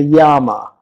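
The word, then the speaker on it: yāma: So each division of day and night is called as a yama. Y-A-A-M-A, yama. Is it a difficult word? I hope you're able to pronounce this word yama.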